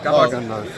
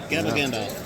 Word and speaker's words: Gabagandalf: Gabagandalf. Gabba Gandalf.